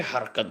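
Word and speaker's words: حركات: আচ্ছা জবর জের পেশকে হারকাত বলে। হারকাতের উচ্চারণ তাড়াতাড়ি করে হয়। জবর জের পেশকে কি বলে? হারকাত বলে বা হরকত বলে। আপনি যেটাই বলতে পারেন উভয়টাই সহিহ আছে।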